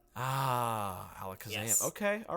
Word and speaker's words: Alakazam: Canter region but normally in most regions it's pronounced Alakazam ah Alakazam okay all right yes which is a extremely